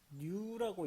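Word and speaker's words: ν: 자, 그 다음에 요것은 뉴라고 읽는데 뉴.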